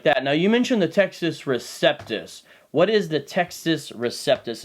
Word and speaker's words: Textus Receptus: um it's interesting because some people pronounce it as the Texas like it came from Texas like they out of Texas yeah straight from Dallas ladies and gentlemen basically the Texas Receptus is not one Greek